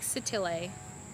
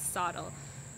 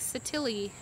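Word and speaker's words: Sottile: is no disputing that mike satile and sorry for pronouncing it wrong before as saddle mike satilly had the first imports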